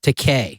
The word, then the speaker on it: Takei: It's called uh It Rhymes with Teay. It rhymes with decay and there was high